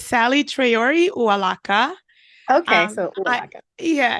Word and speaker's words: Saley Traore Uwalaka: it's okay uh I please don't sweat the pronunciation it's Sally tayori uaka okay SOA yeah it's uaka thank you so